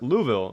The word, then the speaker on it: Louisville: Locals pronounce Louisville as Louisville. No S at all, so just, you know.